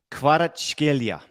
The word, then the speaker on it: Kvaratskhelia: Kvaratskhelia.